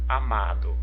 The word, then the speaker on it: amado: Do lado, a palavrinha amado. Amado. Olha, eu tenho a sílaba tônica, o ma.